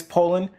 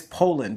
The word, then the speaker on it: Poulan: properly pronounce the name it is Poland just like the country but without the D so this trimmer has